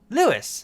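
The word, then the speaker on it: Luis: Louis is the same as the Hispanic Louis. It varies. Lou, like in Lumos, and is, as in is. So Louis. Louis, and yeah, Louis.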